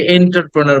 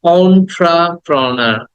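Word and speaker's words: entrepreneur: অন্ট্রাপ্রোনার অন্ট্রা অন্ট্রাপ্রোনার অন্ট্রা প্রথমে এ বলবো না ইও বলবো না অন্ট্রা অন্ট্রাপ্রোনার অন্ট্রাপ্রোনা দেন দ্যা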